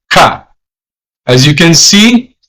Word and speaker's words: ka: K is pronounced as Ka.